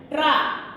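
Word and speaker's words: ट्रक: Truck. What is the next word? Truck. Tra. First we are pronouncing tra. Ta and dra. Not ra and ta. Ta and dra we are pronouncing.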